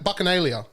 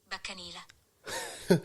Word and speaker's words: Bacchanalia: Bacchanalia. No, it's here. Ready? Baccanila. One more time for the people in the back. Baccanila.